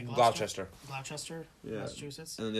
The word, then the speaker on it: Gloucester: Gloucester, yeah.